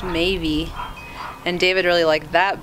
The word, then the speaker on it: Maebh: an Irish name but we didn't like the way Maeve sounded I found one pronunciation on the internet that was pronounced maybe and David really liked